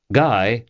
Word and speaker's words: Guy: Guy rhymes with high, as he had told